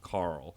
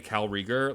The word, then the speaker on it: Cal Rieger: But I hate that Cal Rieger's name sounds like a human name. I get that it's not. Like, when you spell it out, it's Cal, not Carl. But the way you say Cal Rieger, like, it sounds very